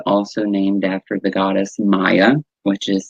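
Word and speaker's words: Maia: May is also named after the goddess Maya, which is spelled M-A-I-A, and also we go into the Pleiadian lineup, which is May 15th through the 22nd.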